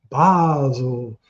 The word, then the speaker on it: Basil: Basel is his first name is pronounced Basel.